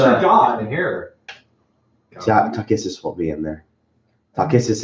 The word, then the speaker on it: Takhisis: Takissus won't be in there.